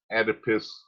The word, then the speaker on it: Oedipus: to the opposite sex parent this is the oedipus complex for boys or oedipus um it's spelt o e d i p u s